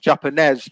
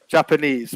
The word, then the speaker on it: Japanese: The only slight point I would make on pronunciation is that you said Japanese, but it's a long vowel sound at the end. So Okay. Japanese, All yeah, right. Japanese.